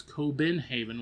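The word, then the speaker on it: København: for Copenhagen as we call it and it's coenhaven which is a k o ben h a ven.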